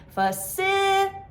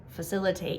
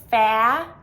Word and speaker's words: facilitate: to understand the stress, the syllable stress, which falls on the second syllable, facilitate.